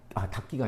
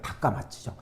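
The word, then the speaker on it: 高松: 다키가 아니라 다카마츠죠. 다카마스.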